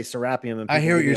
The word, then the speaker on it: Serapeum: Americans usually say serapeum. In Egypt, they say serapeum. And I've picked up the Egyptian pronunciation. I always say serapeum.